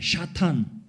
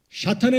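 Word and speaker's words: שָׂטָן: 자, 먼저 사탄을 보시면 사탄은 히브리어 발음입니다. 샤탄입니다. 샤탄. 자, 샤탄의 의미는 영어로 세턴 그러는데 발음상 한국 발음도 그냥 사탄이에요. 히브리 원문에 가까운 발음입니다.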